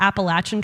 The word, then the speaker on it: Appalachian: Peggy, I was very proud of you because you said the Appalachian Trail. My family's from all over Appalachia, and that is how you properly pronounce that word.